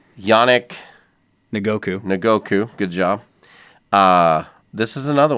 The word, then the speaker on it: Yannick Ngakoue: I want to see if you can pronounce his name. Calais Campbell. No, this one right here. Yannick Ngakoue. Good job. Hey, I know my stuff. Yannick Ngakoue.